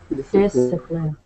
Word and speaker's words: discipline: discipline discipline discipline so notice how we have the seci just like conscience but it's pronounced differently here we have displine discipline yes displine discipline so